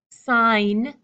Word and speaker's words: sign: G and the N in the word sign sign the G and n the G is gone the G is deleted sign but sig signature signature